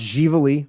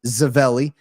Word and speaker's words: Ziveli: That's Ziveli. It's pronounced Gively or Zavelli.